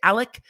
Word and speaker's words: Alex: boat including the dad whose name is a-l-e-x but he seems to say it alec so alex alec if i go back and forth i apologize but it's spelled alex but he seems to pronounce it alec i don't know these